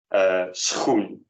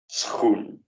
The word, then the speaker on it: schoen: And just to remind you, the SCH in Dutch makes one sound, and sort of one sound. It's actually two sounds, but kind of morphs into one, namely sch, sch.